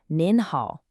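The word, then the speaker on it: 您好: But for an elder or in a formal setting, you show respect by saying nin hao. Really listen for that extra N sound at the end.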